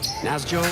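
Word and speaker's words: Nässjö: hails from Sweden yeah the city / town that he's from is spelled na s SJ o again na s SJ o CU i ball at you say now is Joey yeah instead more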